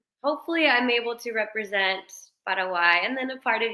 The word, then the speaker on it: Paraguay: going to be representing I call it Paraguay I've heard you say it multiple times as Paraguay so I'm going to try and pronounce it properly yeah I mean I